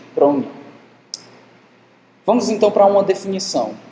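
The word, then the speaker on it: πρόνοια: Aqui, se você conhece o grego, tem um O, né? Mas a pronúncia mais correta seria provavelmente pronia.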